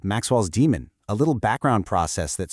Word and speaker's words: daemon: physics concept called Maxwell's demon, a little background process that sorts molecules. So, you say it just like the science term, demon.